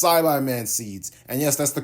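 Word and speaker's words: Saibaman: seed, until she just straight up said it's Saibai-Man seeds. And yes, that's the correct way to pronounce it.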